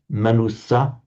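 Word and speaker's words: manussa: So if it's a short vowel, just a short vowel at the end at the end of a word, okay, light syllable. If it's a short vowel followed by a single consonant immediately followed by another vowel, the splitting of the syllables would be ma nusa was how it would be done in Sanskrit and and parlay.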